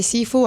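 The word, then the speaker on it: Cifu: Seafood. His last name is spelled seafood, but I thought it was seafood all the time. C-I-F-U.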